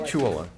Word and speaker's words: victualler: Victual, well, Common it's vic victualler.